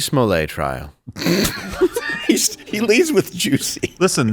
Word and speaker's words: Jussie: He leads with Juicy. Listen, that is the correct pronunciation that he requested at the trial.